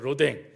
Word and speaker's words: 로댕: 오뎅하고 발음이 비슷한데, 로댕이 만들었죠. 로댕.